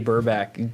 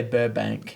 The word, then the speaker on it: Burback: Every time I go to say his name, I got to say Burbank. Burbank. So do I. It's Yeah. Burback. Burback. It's definitely like Yes. a weird name to say.